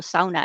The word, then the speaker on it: sauna: the word Sona or sauna as we pronounce it in Finnish but not so many